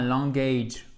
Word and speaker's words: language: Language, A court, et ici, c'est pas un language, ok, c'est pas un A, c'est un I court.